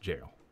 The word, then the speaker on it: gaol: Wait, is Gao really? It's just pronounced jail.